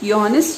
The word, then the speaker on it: Johannes: it is honest as it is a german word so there is no j pronunciation he had to pronounce it and pronounce it johannes gutenberg invented the printing